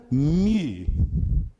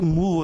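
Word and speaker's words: μῦ: Próxima letra, mi. Mi. O mi, mas está escrito mu aí, que essa segunda letrinha aí, escrito em grego, é o y. Então ele tem um som U, do U francês.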